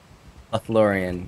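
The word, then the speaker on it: Lothlórien: Lothlorien, yes.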